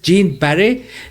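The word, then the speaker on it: Jeanne Baret: और अगर उनको फ्रेंच भाषा में पढ़ा जाएगा तो BARE विद एक्सक्लेमेशन, बैरे पढ़ा जाएगा। सो I think the pronunciation of this name is जीन बैरे, लेकिन इंग्लिश में इसको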